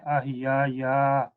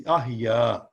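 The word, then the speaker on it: أحيا: When I read according to this, then I will say ahiya ya. No. It's not ya. It is ahya.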